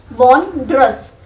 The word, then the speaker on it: wondrous: making this clear that wondrous मतलब वॉन का आप ऐसे याद कर सकते हो. हाँ, जीतने को वॉन बोलते हैं, वॉन्ड्रस. डिलेक्टेबल, एस्टोनिशिंग, वंडरफुल, ये तो आपको पता ही है.